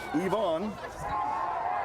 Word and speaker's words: Ivan: The proper pronunciation would be Ivan. I-A-N. Only here in the United States do we say I is E almost everywhere else.